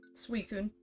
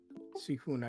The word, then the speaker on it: Suicune: Suicune. Suicune, okay.